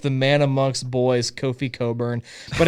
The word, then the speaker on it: Cockburn: man amongst boys Kofi Coburn but it's his name is spelled cockburn but it's pronounced Coburn see me not knowing